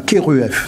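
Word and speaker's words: Kheruef: Voilà, Keruef. Ça s'écrit K-H-E-R-U-E-F.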